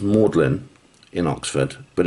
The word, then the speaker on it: Magdalen: under the college called mlin College it's actually pronounced mlin in Oxford but it's written Magdalene it apparently